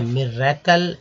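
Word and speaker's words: miracle: कैसे इसे पढ़ेंगे तो बहुत सावधानी से मिरेकल आप बोलें, मिरेकल। मिरेकल यानी कि आई का उच्चारण जो है ई की तरह हुआ है, छोटी ई की तरह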